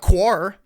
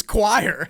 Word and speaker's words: choir: do you say choir it's not quar it's it's choir it's meire you know